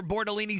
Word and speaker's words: Bortolini: Yeah, we're going Tanner Bortolini, right? Now, that is how you say his last name. Tanner Bortolini, 6'4", 305, out of